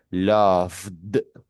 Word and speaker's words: loved: Entonces, si usted dice love, para usted pronunciarlo en pasado, tiene que decir loved. Lo vale, como si fuese una de loved.